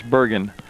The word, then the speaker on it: Bergen: Bergen, out there, and he did say it's pronounced Bergen with a hard G. So I got a lot. I'm French, so I thought maybe it was like the Canadian version, but it's Bergen.